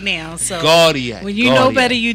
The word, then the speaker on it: Gauthier: it right too say it one more time guardian guardian guardian jamie gaudier yo i've been dude i've been hammering that